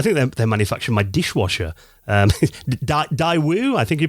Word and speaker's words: Daewoo: Daewoo, I think you pronounce their name. They did their own console, didn't they? The Zemix console. That's right, yeah, Daewoo.